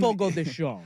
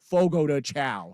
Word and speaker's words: Fogo de Chão: It's spelled Fogo de Chão, but in But Portuguese, in- Fogo de Chão. I was gonna say in white, middle-aged American vernacular, that is Fogo de Chao.